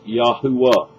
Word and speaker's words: Yahuwah: the original that is yahuwah it's a three syllable pronunciation archeologists have discovered i